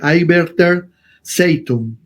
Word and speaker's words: Arbeiter Zeitung: Muy bien, en tal situación el periodista Adolf Fischer, que trabajaba en el periódico Arbeiter Zeitung, disculpen mi pronunciación, pero sí, así se lee, Arbeiter Zeitung.